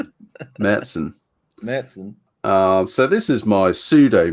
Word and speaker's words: Märzen: It's pronounced Märzen. Märzen.